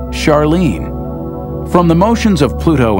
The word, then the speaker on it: Charlene: Christie suggested the name Charon after the ferryman of Pluto's underworld in Greek mythology, but preferred to pronounce it Charon, more like his wife's name, Charlene.